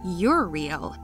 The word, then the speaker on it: Uriel: His name Uriel is a male name of Hebrew origin, pronounced Uriel, which means God is light or light of God.